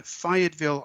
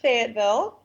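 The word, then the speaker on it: Fayetteville: But you grew up in Fiatville, Arkansas. So, what was it like growing up where you grew up in Fiatville? Well, we pronounce it Fagatville.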